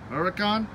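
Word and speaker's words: Huracán: Huracan, Urus. And yes, I am pronouncing it right.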